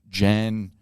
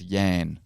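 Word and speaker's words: Jann: of a British teenager Jan marmar a teenage Grand Turismo player who became a professional racing car driver sorry it's yan yan it's Yan sorry I pronounced that wrong Yan mmra it's pretty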